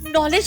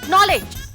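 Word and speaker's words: knowledge: ये साइलेंट होता है मम्मी। हां लेकिन स्पीकिंग में। राइटिंग में नहीं। के एन ओ एल ए जी ई नॉलेज।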